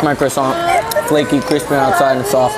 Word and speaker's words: croissant: That's how you say it. No, it's croissant. Croissant.